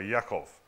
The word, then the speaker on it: Yakov: Esau's Esau's heel so he was named Jacob or Yakov in their pronunciation and the fact that